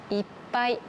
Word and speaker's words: いっぱい: 違いが分かりましたか ? 1 つ目はいっぱい。 2 つ目は 1 杯。 1 杯。 1 杯。この 2 つ描いた時は同じひがですね。でも意味が全然違います。